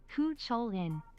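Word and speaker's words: Cú Chulainn: By the way, it's pronounced Kucholin. Kcholin.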